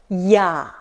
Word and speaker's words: я: And last letter, я. It's like я in Yandex.